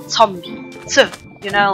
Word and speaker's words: Zombie: the same word but you just pronounce it differently since there's a Z at the beginning which is a set in German you just say zombie so you know like